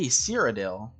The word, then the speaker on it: Cyrodiil: fighting for cyrodell I saw so many people mispronounced cyrodiil earlier and I was like it's not that hard to uh say cyrodiil it's not that hard I mean it even